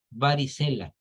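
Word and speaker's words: varicellae: Les repito, herpes virus varicela. Se escribe varicelae, pero se pronuncia varicela.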